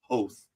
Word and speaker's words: Hoth: George Lucas said that we are all pronouncing Hoth incorrectly. It's Hoth.